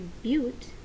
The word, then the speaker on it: but: You know that the root for four carbons is "bute"; so we'll write that: b-u-t, "bute."